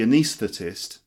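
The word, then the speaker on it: anaesthetist: can repeat this it's the job of the anesthetist to anesthetize the patients with an anaesthetic it's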